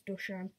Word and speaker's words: Dušan: It's sort of an S with a V on top of it. So I don't know how that's pronounced. So I think it's Dušan.